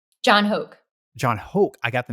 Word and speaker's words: Hoke: By chance, was the creative director you referred to at Nike Hoka? John Hoke. John Hoke. I got the name wrong.